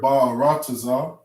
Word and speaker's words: ba'arataza: So when we spelt this word and we pronounce this word, we put the ba, ra, taza. Okay? That's how you pronounce the full word.